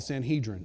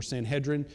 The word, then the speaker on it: Sanhedrin: It's a group of 71 people called the Sanhedrin, or Sanhedrin, depending on how you want to pronounce that.